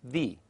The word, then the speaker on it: the: son not the son the second way the is pronounced in its weak form the when it occurs unstressed before a vowel sound as in the example the Apple the third way the is pronounced is in its weak form that when it occurs before a consonant as in an example the time and the book that's it for the